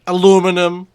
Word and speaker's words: aluminium: overcast conditions and an alum or as the Americans say aluminum aluminum not aluminum aluminium.